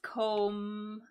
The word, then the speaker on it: comb: So the B is silent. So it's just comb, ends on an M sound.